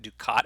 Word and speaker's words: ducat: Ducat, I just want to mention briefly, apparently it's pronounced ducat, but I'm going to keep pronouncing it Ducat after our friendly or not so friendly goal from Star Trek Deep Space Nine, one of my more favorite television series.